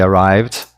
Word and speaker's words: arrived: Então eu diria they arrived at 5 o'clock. Lembrando que arrived não pronuncia esse E, vai direto do V para o D e conecta o D ali no at.